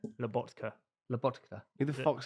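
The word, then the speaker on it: Lobotka: Is Laboka better than Palmer? Labokka. What? What did I say? Laboka. How do you say his name? Labotka.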